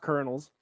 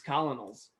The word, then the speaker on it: Colonels: That's pronounced Colonels. No, it's Colonels.